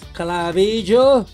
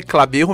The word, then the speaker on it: Clabijo: o nome do cara pode falar a minha pronúncia não é das melhores clarídrico mérida incrível e uma salva de Palmares falou o meu nome é clabigo da né o nome né espanhol